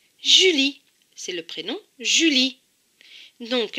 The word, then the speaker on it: Julie: elle et y lit attention le est en bleu donc il ne se prononcent pas cela donne comme mon jus lee julie c'est le prénom julie